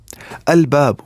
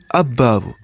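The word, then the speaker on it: الباب: Then lam of alif lam will be pronounced, because huruf qamariyah are not pronounced with tip of tongue, but lam is pronounced with tip of tongue.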